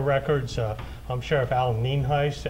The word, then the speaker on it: Nienhuis: again for your records uh I'm Sheriff Alan Neen Heist n i n hu i s and it's pronounced Heist um Sunday morning uh probably when most of